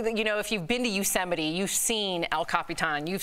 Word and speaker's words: Yosemite: if you've been to Yosemite, you've seen El Capitan, you've seen Half Dome.